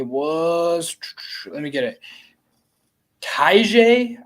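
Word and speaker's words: Tyjae: let me get it Taija I think is how you say it tajai Spears yeah um had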